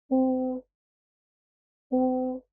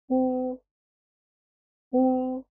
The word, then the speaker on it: و: Oo, oo. As you're taking time for pronouncing 2 letters. Oo, oo. To pronounce it correctly, place your lips in a circle.